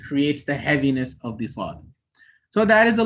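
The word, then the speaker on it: ص: When you start off the sound of the Saad, when it has a fatha dhamma kasra, it will only be air. But by the time you pronounce the haraka, there will be vibrations felt.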